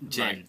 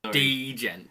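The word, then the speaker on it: djent: done a genre named Jen yeah yeah I know it's just ridiculous the amount of people when it first came out pronouncing it wrong d jen video of a sound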